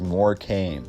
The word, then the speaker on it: Morecambe: Now it's spelled Morecambe Tower, but the B is silent. So you could pronounce it as Morecambe or the Morecambe Tower.